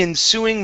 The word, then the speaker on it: ensuing: is the word okay ensuing the stress here is at the end of the word in the ensuing months in the ensuing